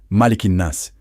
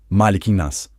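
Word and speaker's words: مَلِكِ النَّاسِ: Em árabe, malikinas. Transliteração. Malikinas. Pausa. Vamos dividir. Malik. Pausa. Anas. Pausa. Agora ligado. Malikin nas.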